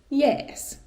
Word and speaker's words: jees: Another one that was first kind of recorded in 1920 being used is yes. Yes, which again sounds like the word yes in English, kind of made in a Finnish pronunciation.